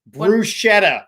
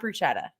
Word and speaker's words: bruschetta: Bruschetta. It's not bruschetta. That's not it. It's bruschetta. No, it's not. The CH sounds like a K. It's bruschetta. That's how you say it.